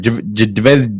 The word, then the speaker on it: Jadeveon: Jadeveon.